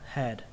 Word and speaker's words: head: Rất đơn giản thôi, các bạn bỏ âm A đi và đọc y chang cách viết.